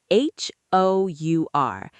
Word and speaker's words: hour: H O U R. It starts with the letter H, which is a consonant, but the H is silent.